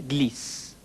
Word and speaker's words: glissent: Ils glissent. They slip. Though the written form is different, you will notice it's pronounced the same as the singular il form. Il glisse.